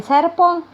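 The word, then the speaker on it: serpent: بعد كده عندي ثعبان ان سيربون. ثعبان ان سيربون. هنا التي مش بتتنطق. سيربون SERBENT SERBENT.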